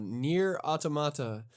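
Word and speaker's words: NieR: Automata: on my list here um I'm going to pronounce it the way the game uh does uh near automata and I have absolutely no idea how I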